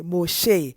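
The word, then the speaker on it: משה: name saying Moses, but in Hebrew it's a Moshe. It's Moshe or Moshi.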